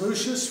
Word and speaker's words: Lucius: His name is Lucius Freeman Williamz. It is spelled on his gravestone, L-O-U-C-I-O-U-S.